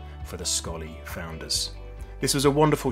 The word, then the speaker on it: Sxollie: Laura how are you doing and did I pronounce scolly correctly yes thank you so much for having me you pronounce scolly perfectly you won't believe how many times people